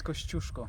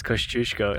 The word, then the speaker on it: Kosciuszko: Piotr, how do you pronounce Kosciuszko? It's Kosciuszko. It's Kosciuszko.